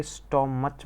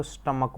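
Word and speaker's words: stomach: और ये स्टोमच मत पढ़ना, इसको स्टमक बोलते हैं, ठीक है, स्टमक।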